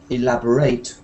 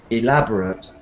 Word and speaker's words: elaborate: But verbs have the ate sound at the end, stressed at the end. So elaborate costumes, not elaborate, but elaborate.